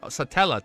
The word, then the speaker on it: Satella: Satella.